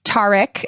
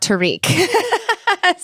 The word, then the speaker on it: Tariq: It's pronounced Tariq, not Tariq."